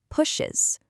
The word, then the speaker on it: pushes: Now say the third person form, pushes, push-s. You can clearly hear and feel that extra beat, right? We just turned a one-syllable word into a two-syllable word.